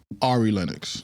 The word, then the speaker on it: Ari Lennox: Speaking of hot takes, uh Arie Lennox, Ari Lennox, how do you pronounce her name? Ari Lennox.